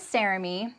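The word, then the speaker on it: Saremy: well my name is Sarah me um I always want to introduce myself tell people it rhymes with Jeremy um and before you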